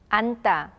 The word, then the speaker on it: 앉다: 앉다, 앉다, 신다, 신다. Notice that we pronounce the character 다 separately from the words 안 and 신.